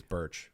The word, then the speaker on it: Bruch: beer brunch beer yeah that's another common mispronunciation my name is birch people just like yeah